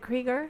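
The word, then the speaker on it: Krieger: uh we have musician Robbie creger correct he's pronounces it creger I believe it'ser one of the founders of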